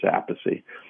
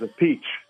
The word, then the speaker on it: Appice: So he was Appice at one time. And I believe when he started playing with Rod Stewart called him Appice, pronounced it. And that's when he decided to change it, and I didn't like the way that sounded, Appice. So I stuck with the way my father said it, which was Appice. And we have another brother, Frank, he says a peach.